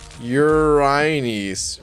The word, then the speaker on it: Uranus: like that even uh what about urine us oh my goodness it's pronounced urines what all right hold on a sec i'm literally going to google i'm probably never going to stop saying uranus uh even if it